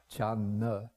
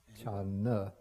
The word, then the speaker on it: Chan: Originally in Chinese it would have been pronounced chan-na. Chan-na. But then they dropped, to make it one syllable, they dropped the na, so it just becomes chan.